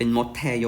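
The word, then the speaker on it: 못해요: อย่าง เ คำ เนี้ย เขียน ว่า มด แฮโย แต่ ว่า อ่าน ออก เสียง จริง ๆ จะ เป็น มด แทย นะ ครับ ผม เป็น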